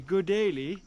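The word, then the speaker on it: गुलेली: to say slingshot in Nepali you can say good daily I thought he said good idea good idea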